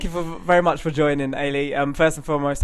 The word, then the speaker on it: Eilidh: So we're very excited to announce Team GV's Olympic gold medalist, Eilidh McIntyre. Thanks for having me. Thank you very much for joining, Eilidh.